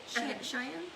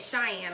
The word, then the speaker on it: Shein: I want to make sure to say her name right. Because I wanted to say it Cheyenne when I saw it, but it's like Shein, like the clothing store that's on that we buy.